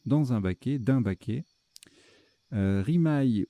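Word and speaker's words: rimaye: Rimaille ou rimet, ça se prononce aussi rimet.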